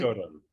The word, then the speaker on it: Factotum: Am I pronouncing it right? Factotum. Yeah, Factotum, right.